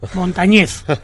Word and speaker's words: Montañez: Y Vicente, que me matizaba ahora, Pedro, mi apellido no es Llana, es Aguda, Montañez.